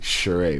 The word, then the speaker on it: Shoray: you start teaching ah my name is actually Cherie but it's not spelt like that it's just pronounced like that same blusher oh so